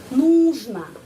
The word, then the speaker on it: нужно: Мне нужно, kita menulis нужно, tapi pengucapannya di sini ya tekanan ya, tekanan pada huruf U. Karena itu нужно. Huruf O pengucapannya A ya.